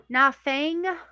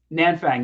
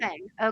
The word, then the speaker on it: Nanfang: So, um, and I note the names like for instance, u, Queen, uh, I'm gonna say Nafang. Nanfang. Yeah, her mother. Nanfang.